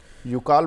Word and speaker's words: यूकाल: sir spelling UC एल यू सीए AL okay यूकाल बोलते हैं बहुत से लोग उकाल बोलते हैं हां वही है देखिए